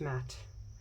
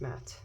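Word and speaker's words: Maat: pronounce her name oh it's pronounced Matt even though it's two A's it's pronounced matte so okay Matt sorry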